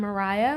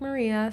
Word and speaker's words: Mariah: And for all who don't know, I'm Mariah. My name is spelled like Maria. So, you will hear Maria and Mariah.